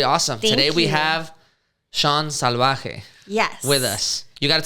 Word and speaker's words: Salvaje: Damn, you said it right. Right? Yeah, I appreciate that. I get Salvaje a lot, and I'm like, what? That sounds awful.